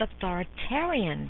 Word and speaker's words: authoritarian: not to be confused with authoritarian that rhymes with barbarians authoritative parenting encompasses all